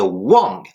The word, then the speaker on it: 望: Et il s'écrit toujours avec le deuxième caractère que nous allons voir tout de suite, qui est Wang. W-A-N-G, quatrième ton, qui s'écrit de la manière suivante.